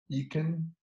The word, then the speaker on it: Eakin: No estoy seguro cómo se pronuncia tu apellido, Eakin. Eakin.